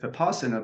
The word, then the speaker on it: Vipassana: So Zen is in the Mahayana school, and there's another meditation practice called Vipassana, spelled Vipassana, but pronounced in the Pali Vipassana.